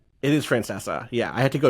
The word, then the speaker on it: Francesa: Pronounces it that way. It is Francesa.